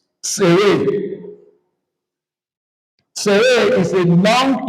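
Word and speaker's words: צֵירֵי: The first one is called sere. Sere. Sere.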